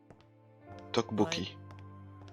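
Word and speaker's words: 떡볶이: Teokbokki. Comment tu prononces le double T? Yeah. Maybe. Teokbokki. Effort 35 might know Ou je the fais answer. Teokbokki? Ça se prononce Tokbokki.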